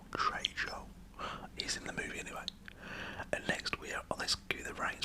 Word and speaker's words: Trejo: died for him to say his name right Trejo Trejo oh let's get the rains for those two